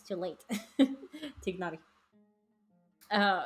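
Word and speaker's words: Tighnari: want to know now it's tigar not ady ah okay add the G okay thank you you pronounced the G you pronounced the G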